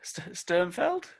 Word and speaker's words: Sternfeld: I guess I'll pass over to Sternfeld. Yeah. I guess. There's no I there, is there? There's no field. It's Feld.